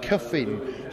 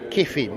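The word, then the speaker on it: Kyffin: car is Fabio cin Simpson I'm going to pronounce it the Welsh way Cuffin Simpson his name is kein that's how he pronounces it but Cuffin is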